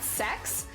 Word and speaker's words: CeX: video game store and the owner of the video game store came forward and was like guys it's pronoun sex no one is saying they're going to the sex store like it's not going